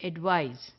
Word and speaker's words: advise: is an action there it is pronounced like it rhymes with prize the way we say prize the same way we say advise so it is advice